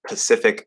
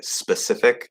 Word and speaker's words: Pacific: Another case is instead of saying like the Pacific Ocean, people might say the specific ocean. Like it's Pacific specific.